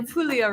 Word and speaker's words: Puglia: I saying that correct the g is silent pul corre in the pulia region uh very sunny very